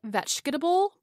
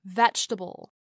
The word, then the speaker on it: vegetable: As you said, vegetable becomes vegetable, and difference becomes difference.